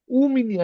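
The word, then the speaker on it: у меня: উ মিনিয়া, এটা কিন্তু উ, এটা কিন্তু আমাদের ওয়ার্ডে উচ্চারণ উ। যদি ওয়াই থাকে তাহলে এটার উচ্চারণ উ, তাহলে উ মিনিয়া ইয়েস ব্রাত, উ মিনিয়া ইয়েস ব্রাত।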